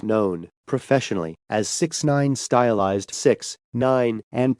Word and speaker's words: 6ix9ine: may 8 1996 known professionally as 69 stylized 6 9 and pronounced 6 9 and formerly as tekashi 69